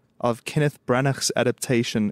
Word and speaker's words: Branagh: part 3 of Kenneth Branagh's adaptation. Did I pronounce his name correctly? I just always say Branagh. Branagh. Yeah, I suppose Kenneth that Branagh.